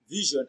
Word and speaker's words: vision: We have the j in vision and in enclosure. So vision and enclosure have the same consonant sound, j. The position where we have the letter S in vision is pronounced as j.